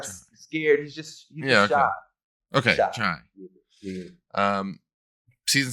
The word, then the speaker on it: Chi: Shy.